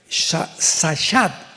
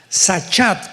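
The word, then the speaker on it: שחת: Esta palabra corromper es la palabra hebrea sachat. Sahat con s de Samuel y ch sachat. Sahat se pronuncia que significa corrupción moral.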